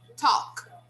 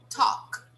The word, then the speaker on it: talk: So the L is silent because it comes before the consonant. Okay? So we say talk, talk.